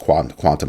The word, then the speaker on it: Qtum: Asked me about QTUM, I think it's pronounced quantum or something like that.